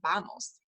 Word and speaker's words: vamos: vamos let's go and we already talked about how the V is kind of a softer sound in Spanish it's not a hard V it's a vamos uh vamanos you may